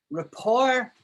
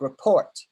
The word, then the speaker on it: rapport: down, you would say that word is like report, you know, like R-E-P-E-T.